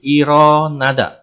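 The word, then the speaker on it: 일어나다: Berikutnya ada kosakata bangun tidur, bahasa Koreanya adalah ilonada, dibaca menjadi ironada.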